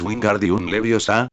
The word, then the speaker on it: Wingardium Leviosa: Tienes que mover la muñeca ligeramente, y el énfasis está en Gariosa. Es Wingardium Leviosa, no lo pronuncies todo arrastrando las palabras.